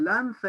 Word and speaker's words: lanza: Y dice que este hidalgo era de los de lanza, voy a pronunciar la Z como la pronuncian los españoles porque me gusta, los de lanza en astillero, adarga antigua, rocín flaco y galgo corredor.